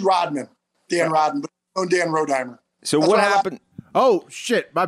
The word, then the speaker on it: Rodimer: Dan Rodney oh Dan rodimer so what happened oh my bad row dimer so we said it wrong I thought okay so